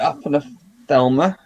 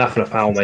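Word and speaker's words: Aphanopelma: Aphanothelma? Aphanothelma, is that how you say it? It's an Aphanopalma, yeah.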